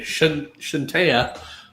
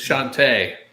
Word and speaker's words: Shantae: Like Shantae, I'm gonna say Shantea or Chantel or something like that. Chantel. Chantel. It's Shantae.